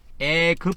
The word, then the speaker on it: 애급: 한 겁니다 그래서 을 원래 그대로 하면 굽이 아니고 급이죠 급 그죠 이게 애급 할 때 이게 급입니다 애급 그래서 이거를에 번역에는 어떻게